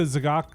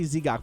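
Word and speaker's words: Z'Gok: Can you put the Zagok? Zagok? Is that how you say it? I always say Zigok, but Zagok is probably right.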